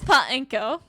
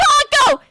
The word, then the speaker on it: Paco: The nature of a robot to help people do things, Miss Penko. Edgeworth, you didn't say her name right. Allow me to ask you a question. My name is Paco. Say it with me.